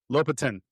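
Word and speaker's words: Lopatin: And it's the same guy who did his name's Lopton or Latin. Latin. Latin. Thank you for helping with my pronunciation.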